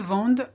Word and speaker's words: vendent: And ils vendent or elles vendent, with an ENT, which again is silent, because the ENT is there to tell you it's more than one person talking.